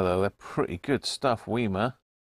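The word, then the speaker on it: WIMA: they're pretty good stuff weima that's how you pronounce it just these two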